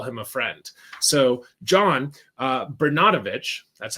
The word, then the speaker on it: Bernatovicz: So John Bernatovicz, that's how you say his name.